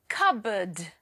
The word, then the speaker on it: cupboard: No, the P is silent here.